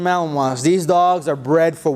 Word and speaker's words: Malinois: called belgian malinois and it's not spelled like it sounds just so you know belgian melon wants these dogs are bred